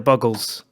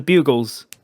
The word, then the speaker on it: Buggles: radio star by the buggles which i never knew that that's how you pronounce that name okay uh i thought for ages it was the bugles but it's a play on the beatles okay okay and they